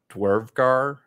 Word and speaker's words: Dvergar: So Dwarvgar is, it's spelled DVERGAR, the ones that the bodies were hardening to stone, right?